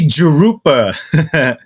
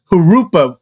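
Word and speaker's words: Jurupa: people would if if don't say jerupa longtime residents that have actually been in Hupa Valley for a long time actually actually call it or pronounce it hurupa like kind of like with an h you know like kind of like a Spanish word you know hurupa not not jerupa what do you think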